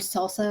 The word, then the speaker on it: SLSA: uh as I mentioned salsa a couple times that's slsa.dev um Supply levels for